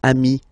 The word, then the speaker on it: amis: Okay, but then technically you pronounce it the same way. So singular form ami, plural form you add this S, but it's ami as well.